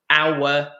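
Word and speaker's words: hour: So we say honest, our, honor. Okay, we do not pronounce the H in those words.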